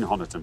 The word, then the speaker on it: Honiton: Sorry, I mean Honiton, but I pronounce it Honiton.